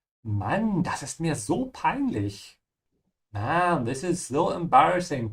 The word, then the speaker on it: peinlich: So embarrassing is peinlich. Keep your mouth open at the end of peinlich. Yeah, that's the CH sound.